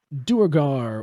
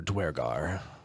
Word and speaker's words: Duergar: Yes, it's Duergar or Dwergar, either pronunciation is acceptable according to the book.